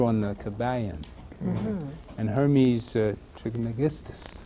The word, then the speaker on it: Trismegistus: last time we had a lecture on the Kabbalion, and Hermes Trismegistus. Trismegistus. Trismegistus. Got it right that time.